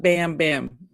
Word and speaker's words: Bam Bam: But that that just doesn't bam bam. Not bam bam bum bum.